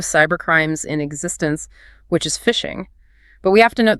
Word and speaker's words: phishing: The spelling distinguishes it as a cybercrime, but the pronunciation keeps the analogy perfectly intact.